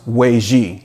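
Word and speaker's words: 危机: In the Chinese language, the word crisis is pronounced Weiji, and I hope I'm not botching that.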